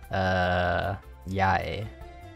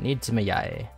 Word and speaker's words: Yae: This is, Yae. Yeah, that's how you say it. Nidzuma Yae.